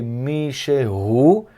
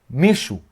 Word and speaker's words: מישהו: A pronúncia é Mishehu. Quando a gente fala rápido, a gente fala Mishu. Mishu, como se fosse a letra E não existe.